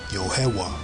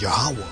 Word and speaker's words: Yahweh: the divine name as yohewa see that they knew who that god was man they knew who the most i was now the correct way to say it is yahweh i'm saying but they